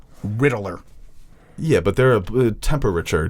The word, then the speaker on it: Riddler: No, I looked it up. It is 3 syllables, according to Google. Riddler.